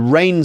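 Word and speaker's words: rein: try to try and R this in to rain something in means to get something under control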